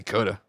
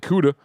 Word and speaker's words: CUDA: I'm going to say CUDA. Because coulda, woulda, shoulda.